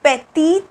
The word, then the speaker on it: petit: like this okay and this pronunciation is petty this is petty and this is petite okay we add an e